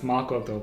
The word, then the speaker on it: Makoto: makoto honestly oh namakoto everyone pronounced her name wrong it's makoto but i don't know